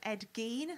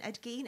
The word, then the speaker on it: Ed Gein: very into the um ed gene i believe that is the pronunciation ed geen ed gein just like body parts